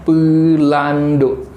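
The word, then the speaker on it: Peulandok: Kancil bahasa Indonesia, bahasa Acehnya Pelando. Jadi Pelando itu ejaannya P E U L A N D O K. Pelando.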